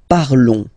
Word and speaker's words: parlons: Nous parlons, okay? Remember, final s is not pronounced, okay? And then this on together, they will give you the sound on, okay?